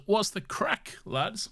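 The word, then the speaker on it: craic: Who This is from Isaac, or Unlucky Hunter, who says, "What's the crack, lads?" Which I believe is Irish. Yeah. Because it's spelled Craig. Because it's spelled Craig. Yes.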